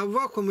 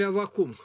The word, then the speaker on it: Аввакум: А я вас прошу, как правильно, Аввакум или Аввакум? И так, и так.